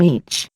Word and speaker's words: Ea: They crossed into our world a long time ago under the Sumerian name Each. Pronounced Ea, Lord and King of the SA.